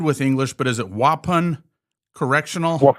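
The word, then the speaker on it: Waupun: How do you pronounce this? I I'm I'm good with English, but is it Wapan Correctional? Wapan.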